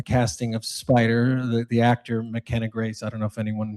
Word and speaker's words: McKenna Grace: McKenzie Grace, McKenna Grace, McKenna, I'm sorry, McKenna Grace and Jojo Regina.